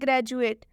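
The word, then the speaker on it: graduate: हुआ है तो इसे हम पढ़ रहे हैं ग्रेजुएट अभी मैंने आप लोगों को बताया की दी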